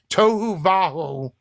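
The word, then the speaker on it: tohu vavohu: of the deep and the that's how it's pronounced toou vaju is formless and void and when you translate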